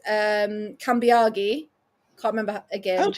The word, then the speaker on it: Cambiagi: Um but they also butchered um Kambiagi. Can't remember again. How do you get Cambiagi wrong? Like it's I think it was like that's almost phonetic by in terms of Italian names.